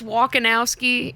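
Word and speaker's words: Wolkowski: be like walking out like you're walking out ski okay walkowski walkowski okay I like that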